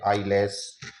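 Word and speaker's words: eyeless: ई से वर्ड शुरू हो गया, वाई आ गया, ई एल E double S, आई से करते हुए आई लेस इसका उच्चारण करेंगे।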